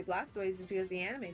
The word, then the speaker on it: Blastoise: But then again, if you were to say like Blastoise with that in mind, you'd be pronouncing it Blastus. Which no one does. I think it's... No one pronounces it Blastus.